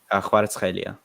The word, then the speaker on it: Kvaratskhelia: There's a lot of like back of the throat sounds that you have to make.